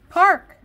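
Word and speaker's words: Paak: very cool it's bruno mars at anderson peck park how the hell do you get park it's park it's pronounced park p-a-a-k r i thought it was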